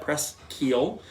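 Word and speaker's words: Presqu'ile: a little Duo preschio that is how you pronounce that press Keel their chardonnay from Santa Barbara and last but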